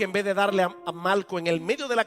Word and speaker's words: Malco: sabemos que se llamaba Malco. Y no estoy pronunciando Marco mal, es que se llamaba Malco con L.